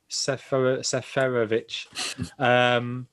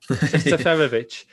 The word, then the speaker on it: Seferovic: Seferovic. It seems one extra syllable in there. Seferovic could get some joy there.